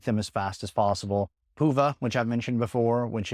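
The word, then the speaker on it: Hyvä: Huva, which I've mentioned before, which is an amazing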